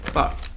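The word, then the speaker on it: phở: Like, F-U-H. Pho. Mm-hmm. Not pho. Pho. Well, that's what it's about. Like, because if it did sound like how it's, you know, it did, West Pines how it's spelled, it would make it like sound like faux as in like fake.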